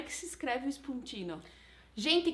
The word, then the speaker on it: spuntin: é que se escreve esponjinha não gente como se lê s mudo s p u n t i n falei certo fonte no isso tá